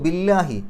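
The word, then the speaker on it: بِاللَّهِ: അപ്പോൾ ബില്ലാഹു എന്ന് പറയില്ല, ബില്ലാഹി എന്നാണ് പറയാം. ബി എന്നുള്ളതിന് കെസ്റായതുകൊണ്ട് ഇല്ല എന്നുള്ള ഉച്ചാരണം കിട്ടി. പിന്നെ ബി എന്നുള്ളത് ഹർഫ് ജർ ആയതുകൊണ്ട് അവസാനത്തിൽ അക്ഷരത്തിന് കെസ്ർ കൊടുത്തു, അല്ലെങ്കിൽ ജെറ് കൊടുത്തു. അപ്പോൾ ബില്ലാഹി എന്നാണ് വരിക.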